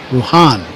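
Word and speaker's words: Bruján: Yeah, Brujan has the accent over the A, Yeah. and the reason is it's used to indicate a stress mark in pronunciation. Brujan.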